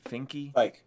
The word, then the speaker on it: Fike: Finke? Fike, Dominic Fike.